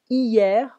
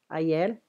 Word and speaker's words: hier: Hier, we don't pronounce the H. Hier, ayer.